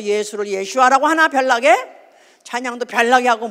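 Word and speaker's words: ישוע: 왜 이 교회는 또 예수를 예슈아라고 하나? 별나게 찬양도 별나게 하고 뭐든지 다 별나게 하네. 사실은 예슈아가 원문입니다. 아람어로 예수를 예슈아. 발음이 그렇대요. 그 사람들 이러면 다 슈아 그러겠네.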